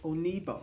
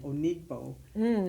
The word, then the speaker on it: Onigbo: know so there's a I was saying onigbo because of the G but she pronounced it and there was no the g is silent or whatever so it